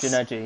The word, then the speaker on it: Junaidi: So Someone who's had a really nice race silently, we haven't spoken about at all, is Junaidi, I believe that's how you say it, in the Haas. Junaidi, yeah. Yeah, he's just been running his own race, staying clean, not making any mistakes.